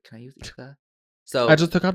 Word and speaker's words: Yza: But yeah, I'm gonna say here, my name is pronounced Isa with the S, like Isabella, like Issa Rae. Issa Rae. It's not Yza.